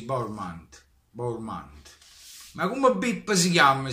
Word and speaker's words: Bournemouth: Si pronuncia così, Bournemouth.